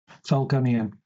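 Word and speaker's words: Falgunzeon: Um, and then we put ourselves on a glide to get to Falunzian. Is that how you say it? Falconian. There we go.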